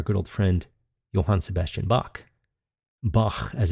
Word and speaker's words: Bach: And our good old friend, Johann Sebastian Bach, as it's actually pronounced, who died at the same year we're considering the Baroque era to have ended, 1750.